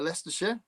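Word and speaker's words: Leicestershire: Uh, Lester She Lester She Yeah, that's not spelled right, but that's how it's pronounced.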